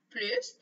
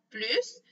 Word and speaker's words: plus: La deuxième façon de prononcer le mot plus, c'est quand on fait la liaison. Et dans ce cas-là, on va prononcer z, z.